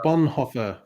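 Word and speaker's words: Bonhoeffer: How did your uh Bonhoffer video go, Greg? Was that am I pronouncing that correctly?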